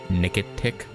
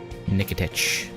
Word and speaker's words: Nikitich: CH in both cases is the same. Okay. Nikitich.